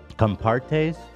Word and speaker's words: Compartés: in that segment about another chocolate brand um compartes am I saying it right yeah okay brought